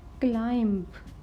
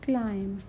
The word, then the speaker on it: climb: Next is climb. Not climb. We will say climb.